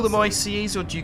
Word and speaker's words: ICE: And do you call them ICEs or do you call them ICEs? Definitely ICE. So ICE would obviously be the English pronunciation, but it is an abbreviation. It's meant to be 3 separate letters.